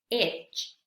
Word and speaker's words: edge: ¿Cuándo no se pronuncia la letra D en estas palabras? Vamos a ver cómo se pronuncian correctamente. Batch, batch, bridge, bridge, budget, budget, edge, edge, fridge, fridge.